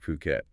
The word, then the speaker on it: Phuket: That's the big draw of owning property somewhere like Phuket. Exactly. And before we really dive in, let's get one thing straight right away. It's pronounced Phuket, not Phuket, okay?